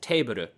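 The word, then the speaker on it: テーブル: Like, for example, you know, in English, the word table. You can say that in Japanese, too, but it's not, the pronunciation isn't table, it's teburu, teburu, right?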